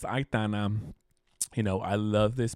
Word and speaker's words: Aitana: I always say her name wrong, but it's Aitana.